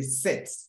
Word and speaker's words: sept: So don't say dix-sept or set, say set. Like mathematics, a set. When you are reading, the P is out.